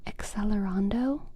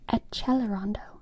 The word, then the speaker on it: accelerando: word in music class, we pronounce it accelerando. But then I remember um one day in or that was how it was always in elementary school. And then when I got to high school, there were some kids who started pronouncing it A chelerondo. A celerondo. There was accelerando. There was aelerondo. And both were according to my high school professor correct.